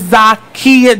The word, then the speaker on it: Zakiya: Hello, Miss Zakiya.